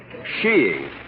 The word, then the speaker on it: skiing: little sheing what sheing oh there are other pronunciations I suppose but in England and Norway sheing is considered most acceptable under the proper conditions